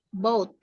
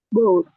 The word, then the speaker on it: bought: Ya, boat-nya G-nya nggak usah dibaca. Boat. Boat.